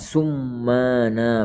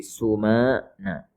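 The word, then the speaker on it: السمانى: Nah, bitakhfifil mimi wal qasr, dengan mimnya ditakhfif maksudnya tidak ditasydid, dan qasr maksur. Jadi kita membacanya at-tayr as-sumana gitu, bukan summana, bukan, tapi sumana.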